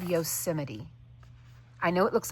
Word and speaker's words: Yosemite: And the color is called Yosemite. I know it looks like Yosemite, especially if you're not from America, but it is pronounced Yosemite.